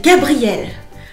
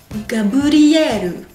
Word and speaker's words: Gabriel: Alors, bien sûr, le R de Gabriel ne va pas apparaître comme un R en japonais. Du coup, ce sera entre le L, le R et pour moi le D. Gabriel, donc cinq syllabes.